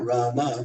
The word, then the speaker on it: राम: But then Srila Prabhupada, at least I heard from a couple devotees, he wanted us to chant Rama because that's the whole mantra.